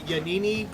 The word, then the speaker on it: Yanini: I'm finally glad that yanini put it in the chat it's like Panini with a one yep yep that's how you pronounce it you I'm glad cuz